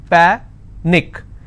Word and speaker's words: panic: so let's break this Panic is PA Nick which means I will stress on PA and it's pronounced at panic tragic tragic I will